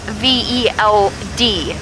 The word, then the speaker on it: veld: And then in Afrikaans, the letter V becomes an F. So the veld is spelt V-E-L-D, veld, like the low veld, which is where we are driving around.